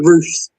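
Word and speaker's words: Roefs: Roofs, is that how you say his name? Future star. Yeah, Roofs.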